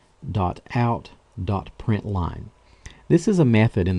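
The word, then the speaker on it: println: let me mention that even though we pronounce it print line it's spelled p r i n t Ln now you'll notice that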